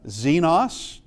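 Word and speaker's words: ξένος: This is your XC and it's an X sound like relax. This is XC and uh xenos which uh probably you might recognize something in that that does mean a stranger.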